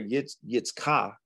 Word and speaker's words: Yitzhak: Yitzhak is really how you pronounce his name, is a faithful man.